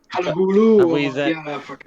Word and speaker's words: Halaholo: And jumping on the back, you just said there with Willis, I don't know how to pronounce his name. Is it Halolo or Halaholo? Halahulu.